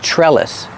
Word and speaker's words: trellis: this is a trellis the TR and trellis is pronounced like a CH like chicken plus the r sure trellis this is a trellis the second syllable is pronounced it's not stressed so together trellis this is a trellis and